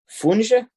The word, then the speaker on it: funge: believe the national dish, is funge. Is that how you pronounce it? Am I correct? Yes, there? that's correct. Yes.